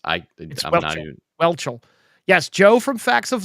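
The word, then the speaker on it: Whelchel: say her name I I don't believe it's wel wel um W yeah it's I welchel yes Joe from Facts of Life um was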